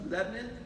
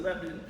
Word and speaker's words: Lebanon: people that live here pronounce it Lebanon. And people that don't pronounce it Lebanon. So it's really either one's correct.